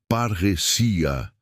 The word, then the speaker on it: parresia: original grego a palavra é parresia, que se pronuncia parrecia.